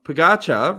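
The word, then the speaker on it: Pogačar: Pogacar rhymes with Fakasha.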